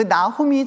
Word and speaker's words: 나훔: 나훔이라는 사람 있죠. 그 나훔이 저 말하고 똑같은 말이에요. 근데 우리가 그냥 읽을 때 나움이라고 읽어서 그런 거지.